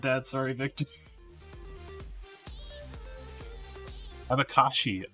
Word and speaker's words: abacaxi: Abacaxi? I'm sure I completely butchered that. Sorry, Victor. Abakashi. Oh, the X's were like she. Okay. In the middle of the word sounds like shh.